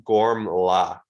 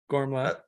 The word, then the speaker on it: Gormla: So it looks like it's Gormla. Gormla. Yeah, Gorm. Yeah, when we interviewed her, she pronounced it kind of like that, if I remember right.